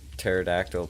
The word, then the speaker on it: pterodactyl: Why can't you hear pterodactyl P? Because the P is silent.